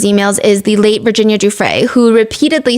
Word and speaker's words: Giuffre: and second of all she keeps pronouncing Giuffre as Guffre.